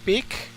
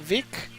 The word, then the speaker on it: Vic: here this is the town of bck or Vic depends how you pronounce it in the Spanish way or the English way or the Catalan way actually so we're in